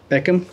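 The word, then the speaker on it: Bekim: and how do you say your first name Beckham yes sir 420 you ready yeah last name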